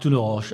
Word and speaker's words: Tourneroche: Tournoroche. Alors, Tournoroche, cette fois-ci c'est la bonne prononciation, je n'ai pas écorché votre nom.